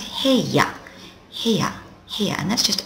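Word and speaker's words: 部屋: bit weirdly it's pronounced heya here here and that's just a room any old room I remember it because my room is where I brush my hair I brush my hair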